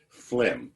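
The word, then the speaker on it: phlegm: this in my mind I might be pronouncing this as fum to remind me that there's a g in there somewhere and you will all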